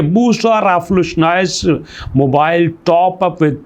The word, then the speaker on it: Boostr: Application है जनाब बूस्ट आर जो कि मैं आपको बता रहा हूं स्पेलिंग में बी ओ ओ एस टी आर जिसको हम बूस्टर भी पढ़ सकते हैं।